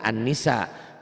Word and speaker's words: an-nisa: Jadi kalau Teteh bacanya nisa berarti Teteh menghilangkan alif lam. Alif lam itu dalam bahasa Inggris do ya. Merubah jadi pengertian Anissa. umum jadi khusus. Nggak boleh nisa unggul an-nisa.